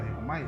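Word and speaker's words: δαίομαι: Bueno, entonces demonio va más que nada con un verbo griego que se llama diaumai, más o menos así se pronuncia, diaumai, se escribe así.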